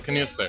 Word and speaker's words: Knoester: Right, Knoester.